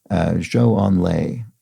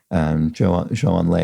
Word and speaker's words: Zhou Enlai: Disarray has a pronunciation note for me regarding Zhou Enlai, the former Chinese premier. It says, Zhou is pronounced more like Joe, J-O-E, J sound for Z or ZH with varying tongue positioning.